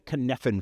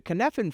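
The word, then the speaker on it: Cynefin: Uh, it's a Welsh word. I think it's spelled with a Y and the Y is not where you think it would be. I think it's C Y N F I N.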